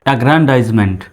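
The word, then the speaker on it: aggrandizement: করব চলুন কৌশলটা দেখি এগ্রেন ডাইসমেন্ট এ double G আর এন এগ্রেন ডি আই জেড E dice M ই N team meant এগ্রান্টাইজমেন্ট মানে ক্ষমতা পদ বা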